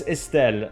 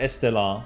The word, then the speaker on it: Estelle: French honestly uh uh in France usually it's Estelle not not Estella wait someone Charlene okay